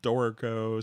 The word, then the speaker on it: Dorico: So I just see someone's mentioning about the pronunciation of Dorico. So it says always pronounce it like Dorito, like the chips.